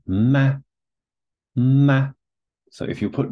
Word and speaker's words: 吗: This one here is the equivalent of a question mark. You can see it right here. And it's pronounced ma, ma.